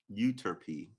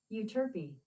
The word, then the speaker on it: Euterpe: Pronunciation. There you go. Euterpe. Euterpe.